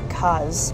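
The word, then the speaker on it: Grand Case: The area I believe is called Grand, spelled Case, but somebody we spoke to yesterday pronounced it like Kaz.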